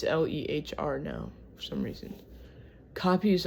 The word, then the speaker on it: Lehr: It's Lehr now for some reason.